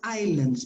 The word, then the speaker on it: island: careful with the brazilian islands because the s is not pronounced actually what you pronounce is this island island different from iceland